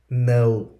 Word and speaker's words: know: First session, silent letter K or K. K sound. First word is no.